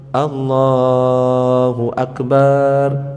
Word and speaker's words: Allahu Akbar: Dan tidak memanjangkan huruf ba. Allahu Akbar. Kadang-kadang di kampung-kampung ketika takbiran itu Allahu Akbar, Allahu Akbar salah. Allahu Akbar. Allahu Akbar. Harus sesuai bacanya itu. Dan tidak mentasdid huruf ba Allahu Akbar enggak boleh. Tambah aneh.